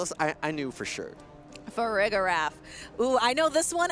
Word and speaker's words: Farigiraf: I believe it's Farigiraf. 100% correct. That is a perfect pronunciation. 2 for 2. We don't even need the lower third to tell us. I knew for sure. Farigiraf.